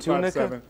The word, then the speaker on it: Tunica: Saturday, and Sunday at the Funnybone down in Tunica. Did we put the number up for you to call? Is that how you say it, Tunica? Tunica, yeah. I've been saying Tunica.